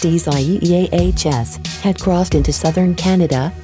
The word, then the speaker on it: Isaias: eastern the center of isaias which is written as isaiah's in spanish and pronounced easies had crossed into southern